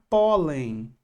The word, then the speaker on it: pólen: A palavra pólen. Penúltima sílaba mais forte terminou em N. Tem N no li no chão? Tem. Então, eu vou e acentuo.